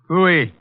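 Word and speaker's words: pfui: Fooey. What's that? Fooey. It can be spelled in several ways. I spell it P-F-U-I. Fooey.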